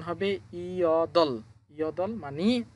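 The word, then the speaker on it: 여덟: দুইটা বর্ণ নিচে আছে, দুইটা বর্ণ থাকলেও এখানে আমাদের এই বিউপটা বাদ যাবে, শুধু রিউল উচ্চারণ করতে হবে।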